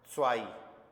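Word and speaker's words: zwei: Ions देखो एन आधा ions इधर नुल टू के लिए हमें बोलना है स्वाई इ का रूल आएगा। या स्वाई जेड डब्ल्यू ई आई स्वाई स्वाई कैसे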